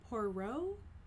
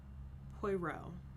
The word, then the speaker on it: Poirot: located within the hercule poro universe i think i said the name wrong in my um episode of murder on the orient express but it's detective hercule poirot i'm pretty sure so this is another